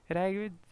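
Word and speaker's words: Reykjavík: रैकविग, ये J capital, जे silent है, सो रैकविग capital हुआ आइसलैंड का.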